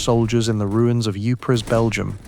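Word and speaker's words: Ypres: produced by British soldiers in the ruins of Eupris, Belgium. Pronounced Wipers by the troops.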